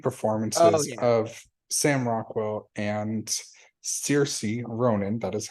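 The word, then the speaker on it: Saoirse: um the lead performances of Sam Rockwell and Cersei Ronan that is how you say her name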